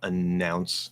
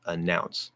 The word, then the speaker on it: announce: make it longer um the first sound is um technically it's un that's where the first n is coming from but we're going to ignore that um because it's a nouns announce so uh it's a schwa sound um so don't say e which is what you might do in spanish or ah announce it's not in ounce no it's a center of gravity uh uh just like an about around or the article